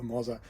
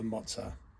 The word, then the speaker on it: Moza: in my book now I am sure there is going to be more than one person tell me I'm pronouncing that wrong and I'm happy to be wrong I'm still not going to change the way I pronounce it I'm still going to call it the Mozza and heaven forbid you say that my wife is wrong and it's not the mozah want to get that